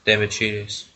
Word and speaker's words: Demichelis: Demichelis, that's how you pronounce it in defence.